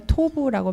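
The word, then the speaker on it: טוב: 지금 173페이지에 계속해서 창세기에 그 토부, 보시기에 좋았더라라는 그 히브리어가 토부라고 발음을 하는데요.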